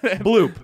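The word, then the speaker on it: Bloüp: It's going to be like Lou Moon. Bloop. It's a Exactly. Bloop spelled B-L-O-U-P. Correct. Yeah. Correct. You with the two dots over it.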